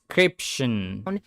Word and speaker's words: description: Describe with a long I description. Description. Description. Okay, you can click the link below the description. Description. Description with a short in the stress.